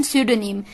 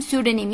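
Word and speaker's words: pseudonym: एन ए M Sydney इसमें piece silent था पीएसईउदो एन ए एम सुदीन नाम I repeat PSU डू एंड ए एम sudening यानी की आ fictitious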